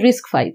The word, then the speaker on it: RISC-V: risc-5 is pronounced as risk 5.